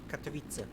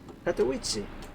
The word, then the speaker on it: Katowice: I'm gonna pause the music, let me enable sound from the second PC, let's hear the correct pronunciation. Katowice. Katowice.